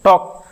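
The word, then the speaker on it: two: यहां पे के साइलेंट होता है। है ना? एन डबल ई नी पढ़ते हैं। टॉक टी ए एल के टॉल्क नहीं पढ़ते हैं।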